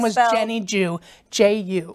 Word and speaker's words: Ju: The little girl's name was Jenny Ju, J-U. J-U, and they pronounced it Ju.